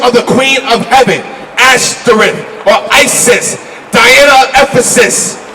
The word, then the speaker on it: Ashtoreth: Ashtoreth is the Hebrew pronunciation.